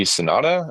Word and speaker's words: Sanada: Most recently today or yesterday, um, Hiroyuki Sanada, I believe is how you pronounce his last name, Mhm.